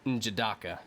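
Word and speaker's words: N'Jadaka: We've been pronouncing his name wrong. It's Njobu, and the son's Wakandan name is Njidaka.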